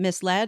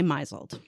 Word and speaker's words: misled: been wrong it was like I used to pronounce the word um misled I used to say miseled right and you say instead of shown I